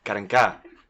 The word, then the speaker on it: Karenka: With your host Mimi Nguyen and Karenka. Karenka. You're getting better. Accent on the A.